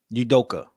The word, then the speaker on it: Udoka: about celtics coach i think how do you pronounce his name emmy yoduka udoka udoka yeah um is the fact that whenever